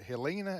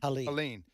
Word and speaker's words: Helene: in the aftermath of, was it Helena? Is that how you pronounce the hurricane? Helene.